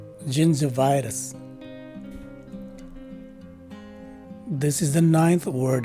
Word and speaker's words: gingivitis: on top of it, and both the second and fourth letter I's are swa sounding I's. And finally, the letter S at the end of the word is a regular letter S. So the right way to say this word is gingivitis.